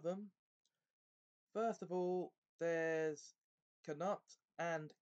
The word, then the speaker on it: Knut: They clearly pronounce what ought to be a silent K at the beginning of each of those words.